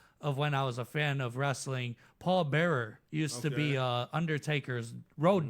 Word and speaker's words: Paul Bearer: Like we say Paul Bear. You say Paul Bearer. Okay, Right. now it was a difference. But that's how it's spelled.